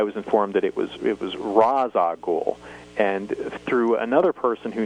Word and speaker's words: Ra's al Ghul: And he said that the correct pronunciation would be Ra's al Ghul, and there's almost like a trill on the R, so it's kind of difficult for non-Arabic speakers to really properly pronounce it.